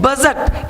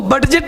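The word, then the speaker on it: budget: बजट, इसको बडजेट नहीं बोलेंगे, देख रहे हो।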